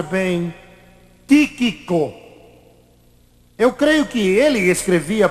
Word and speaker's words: Tíquico: não sei pronunciar bem tiquico eu creio que ele escrevia para o apóstolo Paulo e era também ele que entregaria aquelas cartas tíquico ou tiquico como você preferir pronunciar seu nome pois bem chegou então